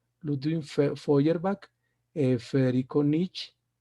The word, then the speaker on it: Feuerbach: O sea, miren, se lee Foy, así como Freud, se escribe Freud y se lee Freud, aquí también Feuerbach, EU en alemán se lee hoy. Ludwig Feuerbach, Federico Nietzsche y en la época actual Noam Chomsky.